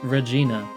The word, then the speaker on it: Regina: the main character is called Regina it is pronounced Regina stop trying to make me say vagina because